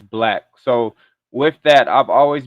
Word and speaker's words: Blake: I'm an African American, and I have been to many countries, and my middle name is actually Blake. So the countries I go to, a lot of them pronounce that as Black.